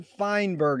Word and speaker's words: Feinberg: It's an honor and a pleasure to be here with Jonathan Feinberg. Is that the correct way to pronunciate it?